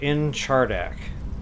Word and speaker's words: Nchardak: real actual effort here let's pretend the in is silent chardack so in chardack I believe is is the way to pronounce that word but I like cheddar